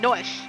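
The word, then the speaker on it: Noishe: Let's go, Noish. It's time to regenerate the world. Noish. That's how we say it, Noish.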